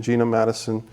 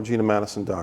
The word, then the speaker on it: Geena Matuson: name for the people oh it's spelled m80 uson so it's GE e na oh yes GE na ma tu som you know like Geena Davis I was named up